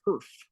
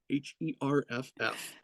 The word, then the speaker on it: Herff: So I promise you, I am not mispronouncing Herb. It is Herf, Herff.